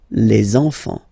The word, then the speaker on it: enfants: So you should make the little link. Les enfants.